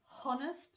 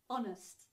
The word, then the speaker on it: honest: honest you don't say honest but honest okay so you don't pronounce the H here okay so say please